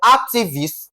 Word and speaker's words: activist: Now, for activist, follows the question four as ac is being what now? Stressed. That is the first syllable. In this case, we're having what now? Ac ac, okay?